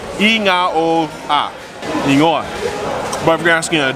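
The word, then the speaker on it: igoa: say yeah you say the word ingoa which is spelled i-g-o-a or in zamon the g sounds like na inga but if you're asking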